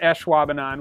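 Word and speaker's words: Ashwaubenon: better than i did i'm pretty sure it is eshwabanan with a little bit more of that ah in the front of it let's hear it one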